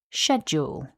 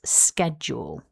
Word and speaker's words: schedule: back together, we have schedule with the stress on syllable one. Repeat after me. Schedule. So, now you know how to pronounce schedule in English. The other common pronunciation of this word is schedule with the k sound